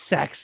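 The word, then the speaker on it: Sachse: Oh, Spencer in our chat, it's Saxe, dude.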